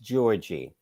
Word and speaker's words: Giorgi: Venus won against Camilla Giorgi. Her name is pronounced Georgie.